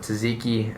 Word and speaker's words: tzatziki: And then they throw it on there, and they put tzatziki and all these other toppings on there. Nice pronunciation, by the way.